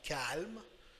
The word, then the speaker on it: calmes: Après, on a nous sommes calmes. Nous sommes calmes. We are calm. We are calm. Nous sommes calmes. ES muet. So the last two letters are silent.